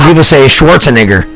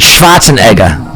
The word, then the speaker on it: Schwarzenegger: spots in there you go for some reason people say Schwarzenegger and I'm like that's not how it's pronounced it shots a Nega but no one knows that because America no